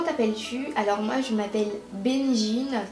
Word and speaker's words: Benjine: alors moi je m'appelle benjine qui s'écrit B e n avec un G i n e il y a beaucoup tout le monde l'écrit écrit mon prénom avec un J mais non pas du